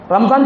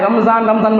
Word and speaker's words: رمضان: اصل میں رمضان بھی نہیں، وہ تلفظ بھی ہمارا غلط ہو گیا ہے. اب لوگوں کے بولنے سننے کو دیکھ کر ہم لوگوں سے بھی، علماء سے وہی جملہ نکل رہا ہے، رمضان بول کر. رمضان اصل میں تلفظ رمضان نہیں ہے، وہ رمضان ہے، تلفظ رمضان ہے.